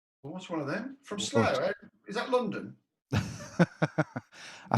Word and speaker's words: Slough: From Slough, eh? Is that London? I think you pronounce it Slough.